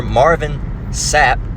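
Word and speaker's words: Marvin Sapp: This one's titled, "Pastor Marvin Sap, that's how you pronounce his name, locks down church until they donate in parenthesis, $40,000."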